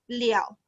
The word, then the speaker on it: 了: Okay, actually this one I not pronounce le already. We will pronounce liao.